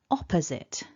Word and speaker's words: opposite: mistakes sometimes happen so bringing all of that back together remember stressed syllable one repeat after me opposite so there it is